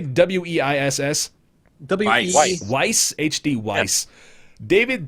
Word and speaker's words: Weiss: Ignacio0891, A1 Base, HD, how do you say W-E-I-S-S?